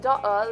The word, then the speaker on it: daughter: In daughter, leave the GH out.